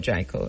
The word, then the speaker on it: Kabu: Tell us about Kabu. May I pronounce it right?